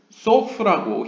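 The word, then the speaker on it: סוף: 이 수프라고 읽지 마시고 소프라고 히브리어로 바꿔 읽어보시면 그 뜻은 끝이라는 의미입니다.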